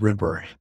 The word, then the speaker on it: Ripa: First of all, you're pronouncing it like Kelly Ripa from Good Morning America. It's Ripper. She's a Ripper.